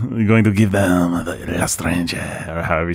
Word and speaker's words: L'Étranger: Well, as the resident atheistic scum, I'm going to give them the L'Estranger, or however you say, how do you say it? L'Étranger.